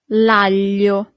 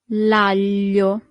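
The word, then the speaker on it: aglio: Here we have this combination of letter that for foreigners is always a little bit e hard to pronounce. Sorry. It's G A L I L Y. That's the sound L.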